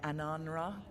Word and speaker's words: Ananra: Asamra. That's Kunlat for congratulations, right? You might want to try Ananra. You just said we are doing you. I was saying it wrong all this time.